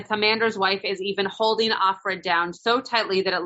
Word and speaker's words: Offred: should be capitalized you can see that like of Fred right his name was Fred so she is